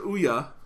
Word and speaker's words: Ouya: Well, it doesn't mean you have to say its fucking name wrong. All right, so Ouya, all right? Yes, Ouya.